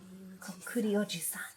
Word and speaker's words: こっくりおじさん: 五章こっくりおじさん Kokuri Oji-san. So I was pronouncing it right.